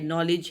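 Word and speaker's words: knowledge: For example जैसे honest एक word है, इसमें एज की साउंड प्रोनाउंस नहीं होती. इस तरह रिस्ट है, नॉलेज है.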